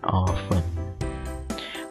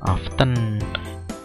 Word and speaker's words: oven: di sini kita tambahkan oven bacanya oven ya jangan often deso kamu oven I